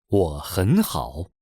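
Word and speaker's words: 我很好: Here there are three third tones in a row. The first two change to the second tone.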